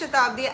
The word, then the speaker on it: Satabdi: Satabdi, whose name he can't pronounce, and I get that because most of Indians can't really pronounce my twisted bong name. Hi, this is Satabdi, and I'm here with Elitom.